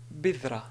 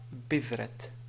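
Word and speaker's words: بذرة: sur la ta, on va dire bidra et non pas bidrat. Donc, cette écriture est fausse parce que ici il s'agit de ta marbuta qui, si on veut s'arrêter sur cette ta marbuta, on prononce bidra au lieu de bidratun ou bidrat. Bidrat, alors là, vraiment, c'est pas correct.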